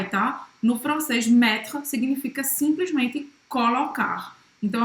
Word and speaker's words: mettre: Mettre. Mettre. Colocar. Colocar. Então, mettre, tá? Não vai pronunciar novamente esse E no final. Então, esse R é bem gutural.